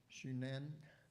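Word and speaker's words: Xunantunich: Mayan rooms now I'm going to try to pronounce this shunen which otherwise hard to pronounce so everybody called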